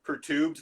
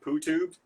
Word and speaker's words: perturbed: A second one is the word is pronounced pertubed, not poo-tubed, which I guess one of us said last week, and I blame the Instagram.